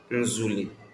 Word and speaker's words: nzule: Nzule. And it is spelled as Z U O E Nzule.